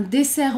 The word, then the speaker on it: dessert: Un dessert aux fraises. Dessert aux fraises. Dessert aux fraises. Un dessert aux fraises. Le T est muet.